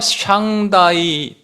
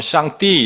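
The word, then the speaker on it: 上帝: 순황제가 아 황제가 샹다이 또 상제라는 분에게 제사를 했다. 이렇게 기록이 나와 있습니다.이 샹다이라 그러고요. 이건 영어 발음이고 중국 발음은 샹띠 이렇게 한대요.데 샹다이에게 제사를 했다라는 기록이 나와 있더라는 겁니다.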